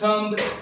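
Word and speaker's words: thumb: so this is नॉट थम this is थम this is थम बी E silent here B is silent here B यहां पे silent है इसे क्या कहोगे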